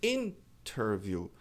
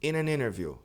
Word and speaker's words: interview: A pronúncia da entrevista é interview, a tônica é in.